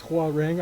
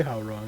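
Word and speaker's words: Hwoarang: am I for saying how wrong this is Hua ring I found out recently that that's how you pronounce it apparently even though in some of the games they say how wrong I think yeah oh speaking of that yo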